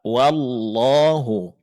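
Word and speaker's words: والله: Maka huruf waw ditipiskan, vokalnya berbunyi a, wa, maka vokal A-nya mesti dipertahankan. Jangan berubah menjadi O. Jangan wo, tapi wa. Wallahu, wallahu, wallahu.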